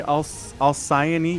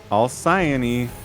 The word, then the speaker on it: Alcyone: Alcyone. See Alcyone, you see it? Like the Y and the O makes an IO sound. Alcyone.